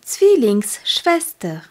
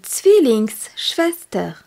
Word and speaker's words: Zwillingsschwester: Die Zwillingsschwester, Z-W-I-L-L-I-N-G-S-S-C-H-W-E-S-T-E-R, avec le Z qui se prononce T et le W qui se prononce V.